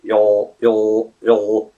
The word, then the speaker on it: you'll: So you, and then you kind of swallow the sound.